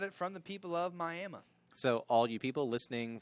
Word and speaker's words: Miami: It's spelled Miami, but it's pronounced Miami.